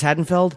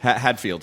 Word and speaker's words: Hadfield: you say his name Chris hatfeld Hadfield Hadfield sorry yeah he he had